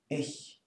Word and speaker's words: ich: It's pronounced ich.